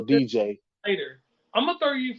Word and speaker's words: Diijai: His name is spelled Diijai. So DJ.